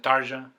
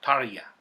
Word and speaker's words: Tarja: absolutely fantastic album with tarja on vocals tarya excuse me as rather tarya as she pronounced her name number one of course